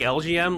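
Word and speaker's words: Elgyem: I recently found this out, but LGM, like you pronounce it like LGM, like Little Green Man, because it's an alien.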